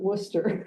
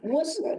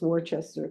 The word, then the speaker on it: Worcester: who are in the Worcester area, we do pronounce it Worcester. Worcester. Thank you. As in Worcers. I should have asked that questioning earlier. Any telemarket, anybody I talk to for credit card or anything, it's always Wararchchester.